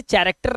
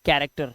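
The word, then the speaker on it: character: का का साउंड निकालेगा जैसे सी एच ए आर अब इसे चरेक्टर नहीं पढ़ते इसे पढ़ते हैं कैरेक्टर क्या पढ़ते हैं कैरेक्टर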